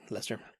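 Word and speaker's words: Leicester: cheddar and red Lester I think you pronounced it it's SP leer but I think it's Lester and mozzarella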